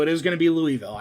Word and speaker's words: Louisville: Now, can I just say it's Louisville? I was going to say, you're going to get a lot of crap from, the Kentuckians. Yeah, it's Marcus. Louisville.